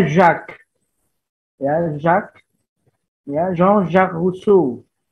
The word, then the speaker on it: Jacques: Nanti lain kali bacanya jangan Jacques ya. Jacques itu campuran bubur ayam gitu ya, Jacques. Bacanya Jacques.